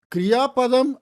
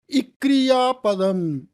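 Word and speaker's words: क्रियापद: கிரியாபதம் அப்படிங்கிறத நம்ம எப்படி ப்ரொனவுன்ஸ் பண்ணணும் அப்படிங்கிறத இக்ரியாபதம் அப்படி சொல்லக்கூடாது, கிரியாபதம் அப்படி சொல்லணும். இப்படி அந்த ப்ராக்டிஸில் தான் அது வரும்.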